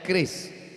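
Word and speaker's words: QRIS: Tolong buatkan curis. Cara bacanya keris.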